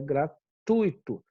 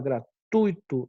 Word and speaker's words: gratuito: falar essa palavra é gratuito e para que a gente fala gratuito e não gratuito porque na verdade isso daqui é um ditongo ou seja quando eu tenho